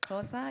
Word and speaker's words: Xhosa: of our language so the letter C is pronounced can you do that there you go that's C the letter Q is pronounced there you go and then X which forms the first letter of our language is pronounced there you go so cosa is spelled XH OS a and don't be disappointed